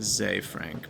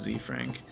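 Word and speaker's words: Zefrank: I've been watching a lot of the, I guess it's pronounced Zay Frank, but I always said it's Z Frank on YouTube.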